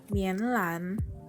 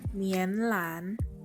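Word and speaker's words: 棉兰: Jadi Medan dalam bahasa Mandarin adalah Mianlan. Aku ulangi sekali lagi, Mianlan. Aku ulangi sekali lagi, Mianlan.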